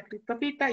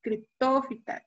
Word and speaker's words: criptófita: No, y aquí justo aprendí que la pronunciación que hago siempre está mal, ¿no? Es caméfita, hemicriptofita, criptófita, pterófita, fanerófita. Yo siempre lo pronunciaba mal.